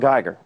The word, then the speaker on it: Geiger: joins us this morning I pronounced your name right did I yes you did okay gooder but it's